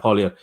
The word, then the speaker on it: Poilievre: I support the Conservative parties more, but it was disappointing that, I can't pronounce his name. Pierre is the name, like Pierre. Yeah, then Poilievre. Yep. Yeah, Poilievre.